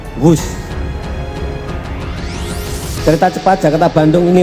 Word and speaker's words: Whoosh: Sekali lagi W H O O S H tapi bacanya wus.